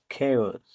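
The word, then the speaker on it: chaos: এখানে সি এর পর এইচ লেটার ডি সাইলেন্ট থাকবে। সি এইচ এ ও এস খেউস মানে বিশৃঙ্খলা এখানে এর পর এইচ লেটার ডিসাইলেন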